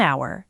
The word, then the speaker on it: hour: An hour. The H is silent, so it sounds like a vowel.